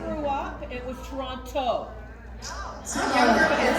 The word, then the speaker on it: Toronto: It's pronounced Toronto.